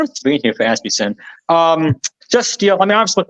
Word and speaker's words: Asmussen: Asmussen, making sure that we pronounce his name the correct way. Asmussen.